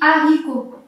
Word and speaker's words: haricot: Là, c'est un T muet, d'accord? T muet. Le haricot. Pareil, H muet, on dit haricot.